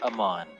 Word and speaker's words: Amon: I just write it Amon as it sounds. AMON. fine. That's exactly how it's spelled.